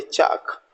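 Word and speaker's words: chalk: को नहीं बोलना है सीच एल के चाक तो एल का प्रोनंसिएशन अगेन हमको नहीं करना है डब्लू ए एल के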